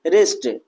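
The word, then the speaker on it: wrist: डब्ल्यू आर आई एन जी। यहां पर भी डब्ल्यू का आ रहा है आर से पहले आ रहा है। तो ये क्या हो जाएगा? हमारा डब्ल्यू साइलेंट हो जाएगा।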